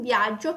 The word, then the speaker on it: viaggio: In viaggio cade qui, non cade sulla i. Allora praticamente tira via la o e non aggiunge l'altra i, quindi è una i sola.